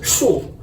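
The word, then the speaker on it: 树: This character means pronounces shu, tree.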